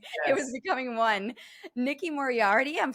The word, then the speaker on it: Moriarty: Nikki Morardi.